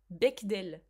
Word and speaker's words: Bechdel: Comment on prononce? Bechdel.